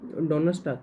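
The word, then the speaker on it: Donnerstag: Germany में Donal स्टाक Thursday को Germany में डोन स्टाक कहते हैं अब अगला देखते हैं हम अगला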